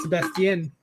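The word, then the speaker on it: Sebastián: But that's technically how you say the name in Spanish, Sebastian.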